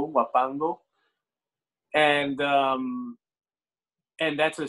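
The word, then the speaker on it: huapango: there's another style rhythm called wapango which is spelled with an h h-u-a-p-a-n-g-o wapando and um and that's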